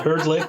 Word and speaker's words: Hrdlick: correctly by the way yes you did uh heard lick is perfect so what i wanted